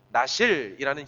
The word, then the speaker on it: 나실: 나실이라는 히브리 단어 말이거든요. 발음이 그래요. 나실이에요.